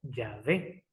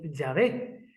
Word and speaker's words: Yahvé: Una correcta y posible pronunciación sería Yahvé.